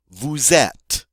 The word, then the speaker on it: vous êtes: of people, you are, vous êtes. Notice that the first E does have an accent, the circumflex, just like the E in the infinitive. All right? And again, the final S is not pronounced.